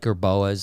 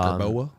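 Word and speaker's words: jerboa: So I like that gerboa. Yeah, gerboas. Have you ever seen a gerboa? No, it's like a gerbil. It sounds gerbil. Yeah, it's like it's spelled like gerbils, like GRB. GRBOA, like boa.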